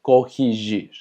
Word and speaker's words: corrigir: Y tenemos corrigir, recordando que GI se pronuncia G, entonces corrigir.